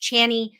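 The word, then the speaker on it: Chani: is in the character of now I'm gonna Chie I think I'm saying that right I there's a astrologer that I follow and her name is spelled the same way but it is spelled is pronounced channy so of course every time they said her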